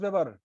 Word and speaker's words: Weber: तुमको बोल रहे पढ़ने की प्रैक्टिस करो एकदम ठीक से, साफ साफ उच्चारण भी साफ। According to German scientist Max Weber, a वेबर कहाँ पे लिखा हुआ भाई?